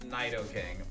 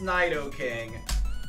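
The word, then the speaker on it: Nidoking: Like I have a YouTube video proving that it's pronounced Naido King.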